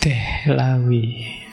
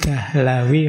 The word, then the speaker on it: Dihlawi: Baik, bismillah, malam hari ini kita ketemu beliau Syah Waliyullah Ad-Dihlawi. Ada yang membacanya Ad-Dahlawi. Kalau di barat lebih banyak disebut Dehlawi. Ayo, saya tidak tahu teman-teman suka mana, Dihlawi, Dahlawi, apa Dehlawi.